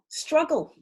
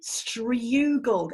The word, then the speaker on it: struggle: also say you struggle struggle is closed syllable yes strong you've got to close that syllable I don't want it to say strugle that's really hard to say so we're going to close up that syllable GG but there's a